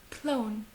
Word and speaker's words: Clown: Comme clown, il se prononce comme l'anglais, clown, clown, ok?